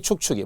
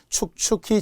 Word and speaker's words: 축축이: 그죠 그 이외에도 촉촉이 축축이 몸 조화에 의해서 우의 차일 뿐이지 발음 잘해야 돼요 촉촉히 젖은 눈동자 안 돼요 축축히 젖은 손수건 안 돼요 촉촉이 축축이 예외라 그렇다는 거죠 외워야 눈이